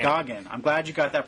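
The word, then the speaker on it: Geoghegan: Well, on important matters, it's pronounced Goggin. There you go. Tom Goggin. Goggin.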